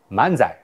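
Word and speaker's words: 漫才: 日本的 lagugo 跟 manzai，请注意，这是日语的汉字，它应当用日语发音，请你应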